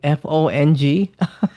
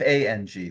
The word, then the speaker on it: Fang: So is it spelled like Fong? No, Fang, like Oh, okay, vampire.